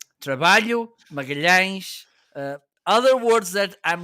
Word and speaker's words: trabalho: Trabalho means work. And when you see together the L and the H, it sounds like y.